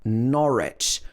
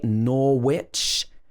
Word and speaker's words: Norwich: silent w sound also in norwich we don't say norwich it should be norwich norwich have you ever